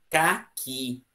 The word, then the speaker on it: caqui: Qual a sílaba forte de caqui? O que que eu faço para saber a sílaba forte? Eu quero um caqui! Ô, caqui. Se eu disser que ca, é caqui. E a fruta, caqui, tem o acento tônico onde? Na última sílaba.